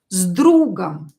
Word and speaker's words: с другом: And I will show you some examples, like с другом. Z. You can hear here that I pronounce S as Z.